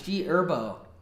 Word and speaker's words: G Herbo: The H is silent, bro. What? The The H is silent. It's G Herbo.